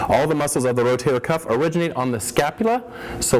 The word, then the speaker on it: rotator cuff: it is not the rotator cup it is not the rotary cup it is not the rotary cuff it is the rotator cuff it is a cuff